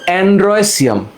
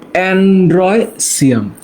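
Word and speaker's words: androecium: এই যে দলমণ্ডল, হ্যাঁ, উচ্চারণটা হচ্ছে, আমার সাথে বলো, অ্যান্ড্রয়সিয়াম। উচ্চারণটা হচ্ছে অ্যান্ড্রয়সিয়াম। তোমরা গাইনি নাম শুনছো না?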